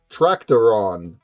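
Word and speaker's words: טרקטורון: In Hebrew, it's tractoron. It's like tractor with on at the end. tractor on actually if you were to do it proper.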